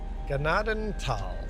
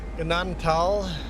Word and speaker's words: Gnadenthal: Ganaden Tal. Ignore the H. H is silent. Pretend the H isn't there. Ganadan Tal.